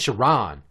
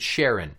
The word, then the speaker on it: Chiron: My name is Chiron. Do you have a last name, Chiron? I'm the only Chiron in Tampa. I highly doubt that. Well, most people would probably pronounce it Sharon.